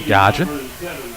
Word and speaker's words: Gagin: I've been corrected on the pronunciation. Gagin.